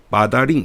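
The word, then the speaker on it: 八达岭: 여기 이제 팔달령, 마다링 이렇게 발음을 하는데 팔달령 이쪽으로 많이 갑니다.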